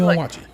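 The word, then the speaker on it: Onwuachi: Kwame Onwachi. Third syllable.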